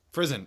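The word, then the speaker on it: Frison: How do you pronounce Jenny's last name? Prison. Frizen.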